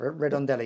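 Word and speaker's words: Redondela: there's that split there's a split from at Redendella that I think that's how you pronounce it. You'll have to excuse me. I'm not No, that's perfect. That's perfect. Redundella.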